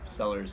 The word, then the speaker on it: Cellars: so check it out sellers spelled with a c c e l l a RS um then